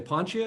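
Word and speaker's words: Poncia: and vinnie is it said do you say ponchia is that how it's pronounced yeah see i wasn't sure yeah okay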